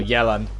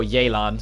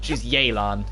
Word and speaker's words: Yelan: We've been calling her Yellen for so long, it's like now the actual pronunciations come out, it's like it's a bit of an adjustment, but yeah, she's Yelan, it's not Yellen.